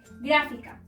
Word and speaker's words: gráfica: Las palabras esdrújulas son aquellas en donde la sílaba tónica se encuentra en la antepenúltima sílaba y se deben acentuar siempre. como en las siguientes palabras. Gráfica.